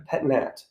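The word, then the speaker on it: pét-nat: to say the complicated word that i just butchered you can just say pet mat p-e-t space m-a-t a pet nut a pet nat yeah yeah exactly petulant natural ancestral excellent that's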